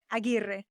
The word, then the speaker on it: Aguirre: Maria Aguirre. Oh, okay. It's the rolling of the R's.